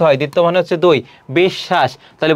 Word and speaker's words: বিশ্ব: তারপরে কি আছে দেখো, বিদ্যান, পক্ষ, বিশ্ব, একই রকম। বিশ্ব এটি বানান, এর উচ্চারণটা কি হবে, বিশ, তারপর হবে কি শ, এটি হবে।